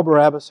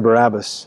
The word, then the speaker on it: Barabbas: have been initially pronounced Barabbas and you recognized the second part of his name because it's ABBA his name means son